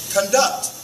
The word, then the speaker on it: conduct: it as a verb notice how the emphasis or the stress go to one the second syllable conduct I'll be the one to